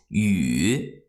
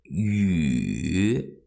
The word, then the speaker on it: 雨: In Chinese, rain, the pronunciation is 雨. 雨 third tone 雨.